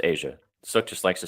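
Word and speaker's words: A'ja: It is pronounced Asia. Suk just likes to say Aza because he's he's like that. But it is pronounced Asia like the country.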